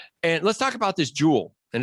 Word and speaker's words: joule: let's talk about this jewel and it's pronounced just like um jewelry right right um so